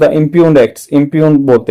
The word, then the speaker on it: impugn: करना, चैलेंज करना, इम्पंजेंट, Impugned. इम्प्यून्ड है, इम्प्यून इसका प्रोनाउंसिएशन है।